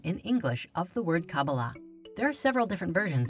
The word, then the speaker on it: Kabbalah: These four letters together are pronounced Qabalah.